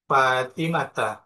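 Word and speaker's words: فاطمةَ: Biasanya kita temukan di kitab-kitab hadis anfatimah ini bacanya Fatimata, anfatimata. meskipun diawali huruf jar, tapi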